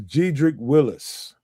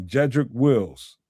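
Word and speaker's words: Jedrick Wills: This is Gedric Willis. Wills, excuse me. Jedric Wills is that that's the proper name way to say his name.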